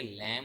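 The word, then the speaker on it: lamb: लैम्प लफ्ज़ नहीं होता बल्कि लैम होता है, एल ए एम। इसके हम साउंड यहाँ पर इन थ्री लेटर्स का हम साउंड लेंगे, बी का साउंड नहीं लेंगे। तो ये हमारे पास बी साइलेंट हो जाएगा।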